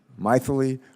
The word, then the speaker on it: Mythili: Our second witness has a name I've never heard before, and her first name is Mythili, right? Mythili? It sort of rhymes with mightily, right? Mythili Raman.